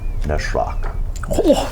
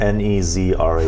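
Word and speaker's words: Nas'raq: Neshrak. Neshrak. Whoa! How do you spell that? So you do know his name. N-A-S-apostrophe-R-A-Q? Nezrak. Oh, man. I was, Z, wait, what? Nezrak. It was pronounced Neshrak.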